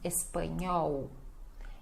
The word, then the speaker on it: espanhol: O NH e o L final som de U. Então, espanhol, espanhol, tá bom?